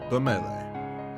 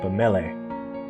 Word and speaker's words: Bamele: Bamele. Hello. Oh, I've been saying it wrong. Bamel. It's Bamele. There's a stuffy silence.